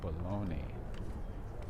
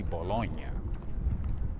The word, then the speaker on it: bologna: Hot dogs are actually cooked bologna. Do you guys know that we don't pronounce bologna correctly? It's supposed to be Bologna, but we pronounce it as bologna. That's incorrect.